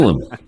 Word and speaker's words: Musalem: I'm not want to say Musalem, but how do I pronounce it? Musalem.